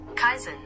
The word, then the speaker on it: kaizen: Kaizen.